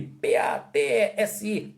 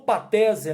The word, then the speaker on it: patesi: Isso aí, P-A-T-E-S-I, patesi, ou patese, né? Se escreve patesi, mas você pode ouvir alguém falar patese e ficar aí meio confuso.